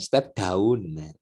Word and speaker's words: step down: Bukan daun, ya, step down. Nah, bacanya step down, ya.